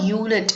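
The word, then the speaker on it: unit: ஏன்னா யூனிட்டை வந்து நம்ம எப்படி ப்ரொனவுன்ஸ் பண்றோம்னா யூனிட், யூ இங்க பிராக்கெட்ல கொடுத்துருக்காங்க பாருங்க, YU + NIT. அதாவது யூனிட் அப்படின்னு தான் நம்ம ப்ரொனவுன்ஸ் பண்றோம்.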